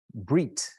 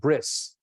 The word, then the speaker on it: brit: Brit. Brit is a covenant. In Yiddish, you would pronounce it bris.